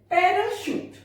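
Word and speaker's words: parachute: पैराशूट, लगता है पैरा यहां पे चा होना चाहिए लेकिन ये पैराशूट। क्लीशे, CHE शा बन गया यहाँ पे, क्लीशे यानी घिसी पिटी कुछ।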